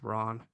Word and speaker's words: Ran: and all that stuff ran is definitely or ron i think it's pronounced ron it's definitely considered his